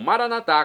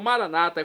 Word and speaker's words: Maranatá: E agora eu clamo, Maranatá, como dizemos nós católicos, ou Maranata, como dizem nossos irmãos separados, os evangélicos ou protestantes. Não importa a pronúncia, o significado é o mesmo.